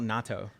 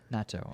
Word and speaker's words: natto: So this is something called natto. Natto. Okay. And natto is basically fermented. Not natto. Not natto. But is it spelled the same?